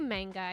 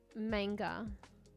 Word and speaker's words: manga: saying the uh the I say manga okay I know a lot of people say manga or whatever I'm Australian I butcher the word I don't think it's actually pronounced like this but this is how I take it and I probably won't change manger mate manga is correct for anime oh there are always